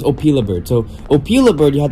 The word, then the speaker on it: Opila Bird: I think it's called Opa bird I think I was pronouncing it wrong I was pronouncing it wrong it was opila bird so opila bird you